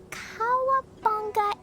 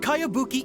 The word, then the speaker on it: Kayabuki: new one i've never heard of it by cowabunga icky your mia this is a really strange name who's this cowabunga it's pronounced kayabuki ek that would be me outlander brigade is